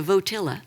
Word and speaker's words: Votilla: planning a thing called a votilla that rhymes with flotilla we're partnering with a